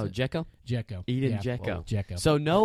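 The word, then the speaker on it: Džeko: Is that how you pronounce Oh, it? Dzeko? Dzeko.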